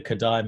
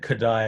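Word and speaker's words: Kodály: right it's i think it said kadai i think it's hungarians uh k-o-d-a-l-y is how it's written but i think it's it's commonly referred to as kadai um it was a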